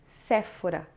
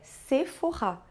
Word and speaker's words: Sephora: u&u tensão de agora saiba que PH em francês tensão de F como no português antigo por isso a gente disse forrar mas atenção não é Sephora é se forrar o acento agudo em